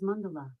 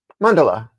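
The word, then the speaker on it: mandala: It is pronounced as Mundela. Mundela.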